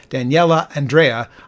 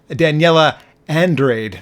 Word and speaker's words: Daniela Andrade: beautifully by this 27-year-old Daniela Andrea, I Will Follow You Into the Dark. I'm imagining I said her name wrong. Daniela Andrade. There we go, that's probably correct.